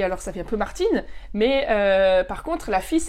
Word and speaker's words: Martin: on à martin d'accord martin en allemand ça se dit martin et c'est un prénom garçon d'accord martin en allemand le garçon et s'appelle maintiennent et alors ça fait un peu martin mais par contre là